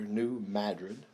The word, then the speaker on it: New Madrid: named new madrid they don't that's how they pronounce it up there new madrid there was more forts most but most of